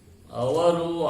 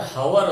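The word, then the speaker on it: hour: ಅದಕ್ಕೆ ಉಚ್ಚಾರ ಇಲ್ಲ, ಅವರ್ ಅಂತ ಹೇಳ್ತೀವಿ. ಅದಕ್ಕೆ ಆನ್ ಅವರ್, I shall come back within on ಆರ್ ಅಂತ ಹೇಳ್ಬೇಕು. I shall come back within on ಆರ್. ಇಲ್ಲಿ ಆರ್ ಅಂದ್ರೆ ಹವರ್ ಅಲ್ಲ, ಆರ್ ಅಂದ್ರೆ ಹೆಚ್ಚು ಸೈಲೆಂಟ್ ಇದೆ.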